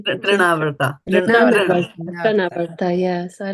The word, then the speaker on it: Trinavarta: So this was nice bringing out this one about the mind and the trivarta. How do you say? Trinavarta.